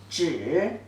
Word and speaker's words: 只: The pronunciation, there are two pronunciations actually. One is 知 zhi, third tone.